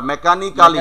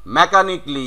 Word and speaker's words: mechanically: এবার মেকানিক্যালি, এটা প্রচুর বলে থাকি আমরা, মেকানিক্যালি, Mechanically. মেকানিকলি, yes. Next one ইজ আইরোনিক্যালি, Ironically. Bangladeshi উচ্চারণ, তুমি বিদেশিটা করো, কি হবে?